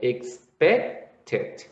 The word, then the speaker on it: expected: You say expect has two syllables. Now, if you write the ed here, you will have 3 syllables. So you would say expected.